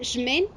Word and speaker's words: X-Men: Bueno, se pronuncia Shmen, pero se escribe tal cual Ex- X-Men.